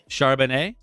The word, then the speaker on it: Charbonnet: last name got it charbonnet like a Cabernet oh yeah you know